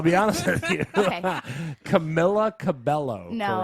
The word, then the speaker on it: Camila Cabello: Camilla Cabello, No. correct? Camila Cabello. Okay, Camilla Cabello. You Welcome to can my world.